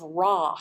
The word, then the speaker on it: ra: of the chord has a solfege syllable of raw you could write that out r a so when i say